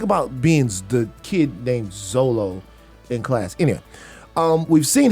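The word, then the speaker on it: Xolo: It's Zolo. Zolo. Zolo. That's a crazy ass name. It's just an X with the Olo.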